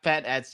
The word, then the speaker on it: Penix: Penix. Yeah, Penix. It's Penix, but I almost said the other thing.